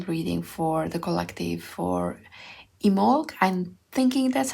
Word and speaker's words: Imbolc: For a long while, I thought that it's IMBOLC with the B, but I keep hearing people omitting the B and just calling it IMBOLC.